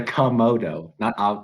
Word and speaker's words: Komodo: It's a Komodo.